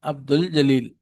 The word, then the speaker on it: عبد الجلیل: میم واو ہا یا۔ جب کسی لفظ پر الف لام لگایا جائے اور وہ الف لام پڑھا جائے تو حروف خمری کہلاتے ہیں۔ جیسے عبد الجلیل، اس کا تلفظ اس طرح کیا جاتا ہے، عبد الجلیل۔ مشق: ان الفاظ میں